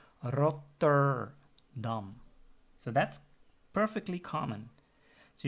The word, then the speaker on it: Rotterdam: If I pronounce the name of that nice city in the Netherlands, Rotterdam, the R is the first letter, so I can use the rolling R, the R, Rotterdam.